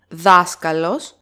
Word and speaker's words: δάσκαλος: Δάσκαλος, third syllable from the last, and it is pronounced so closely with the following word that they sound as one word, ο δάσκαλός μας.